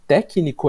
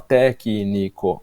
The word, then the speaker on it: técnico: ritmo e dizer técnico, técnico é tão legal que a gente cria uma palavra pré-proparoxítona. A gente coloca o acento na quarta sílaba e traz pra frente para falar técnico que é uma coisa que a gramática diria que não é possível.